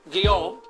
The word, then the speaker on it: Guillaume: Alfred, I think his last name is Guillaume, is that pronounced? Guillaume. Guillaume, G-U-I-L-L-A-U-M-E, translated Ibn Ishaq's Sirat Rasulullah, the life of the Messenger of Allah, into English.